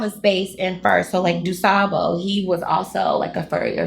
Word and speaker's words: DuSable: Dusabo, who they named Lakeshore Drive after. I'm over here like Dusable. A lot of people do that. Say it wrong.